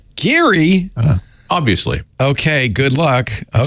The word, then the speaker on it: Glen Garioch: The correct pronunciation is Glen Garioch. Geary?